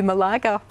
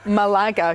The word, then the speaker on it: Malaga: Taking My Lager to Malaga." when we qualified for Spain. I think it was Andy Cameron. Yeah, but it was Malaga, so that it would rhyme with lager, brilliant.